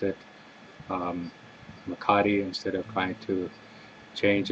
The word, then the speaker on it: mecate: of people up here they call this a mccarty instead of a makati it's like a scottish sounding name but always